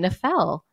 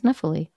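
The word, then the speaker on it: Nephele: But I did learn that I had been pronouncing her name Nefel in my mind, but apparently it's Nephili.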